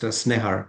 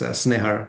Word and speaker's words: Snehar: So, my name is pronounced Snehar. This Snehar Sha I feel like a coconut right now, don't I?